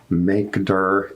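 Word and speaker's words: mkdir: directory files are called we pronounce them makeder and rmdir okay so make a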